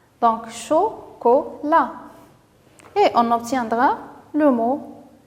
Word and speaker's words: chocolat: La, voilà, avec T à la fin, même si elle ne se prononce pas. Donc, chocolat.